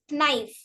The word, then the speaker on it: knife: of word for example the letter k in knife is not at all pronounced see we pronounce it as nice but not as knife life knife knife also